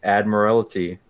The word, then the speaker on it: Admiralty: say Proudmoore wanna bet it's not admire it's that admire it's Admiralty you only know now